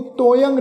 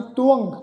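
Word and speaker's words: ਤੁਅੰ: इनू तोयंग नहीं उच्चारण करना। इत्थे इस शब्द का उच्चारण है जी तुअंग।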